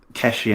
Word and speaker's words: Keshi: Is it Kelly Anderson? Is that how you say it? Keshi Anderson.